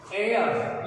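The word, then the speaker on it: heir: एयर, ये हेयर नहीं है, हेयर तो बाल होते हैं अपने, ये है एयर, एयर, एच साइलेंट है, एयर।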